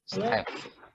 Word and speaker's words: Steph: Oke, Step. TH itu dibaca F ya. Kayak PHOTO bacanya kan foto.